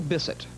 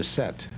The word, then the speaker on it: Bisset: on the show tonight and I said Jacqueline Bisset he said you mean Jack one of the Bessette yeah there's no I mean visit lots of